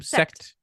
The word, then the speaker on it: Sekt: Sekt.